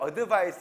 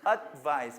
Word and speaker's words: advice: 그러니까 advice 이런데 조언을 advice 이런단 말이야. 하지 말고 advice, 그죠? 살짝 대기만 하고, 아시겠죠?